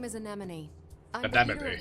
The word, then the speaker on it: Anemone: My name is Anemone. I'm the Anemone. leader of the android Anemone.